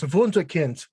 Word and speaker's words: Wunderkind: Say it right, please, man. It's das Wunderkind. You got to work on that.